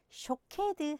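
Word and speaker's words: שֹׁקֵד: 아몬드 나무는 샤케드, 지킨다는 말은 쇼케드입니다. 모음 하나 차이죠. 네가 샤케드를 보느냐, 내가 쇼케드 하겠다.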